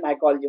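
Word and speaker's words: mycology: माइकोलॉजी, MYCO नॉट MICO। Sumedh, absolute right. इति, very good, keep it up. Satyam is also Singh माइकोलॉजी will be the right option, और सही उच्चारण है माइकोलॉजी।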